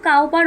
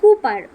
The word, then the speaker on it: Cowper: এটা COW কাউ হয়, বাট উচ্চারণ কিন্তু কাউপার বলবে না, বলবে কুপার।